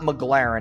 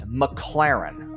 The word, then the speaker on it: McLaren: It's not McLaren, it's McLaren.